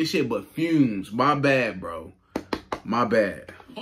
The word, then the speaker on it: Fumez: wrong name wrong i'm sorry man fumes not humans i'm stupid i'm sorry fumes why don't i i don't know why i kept saying funeral like that don't even sound right i guess because of